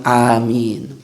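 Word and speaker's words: آمين: Dengan catatan di makna amin menjadi istajib tatkala pembacaannya benar. Bagaimana pembacaan yang benar? A-madnya dipanjangkan, lalu min juga dipanjangkan. Jadi bacanya amin. A-nya harus panjang, min-nya pun panjang.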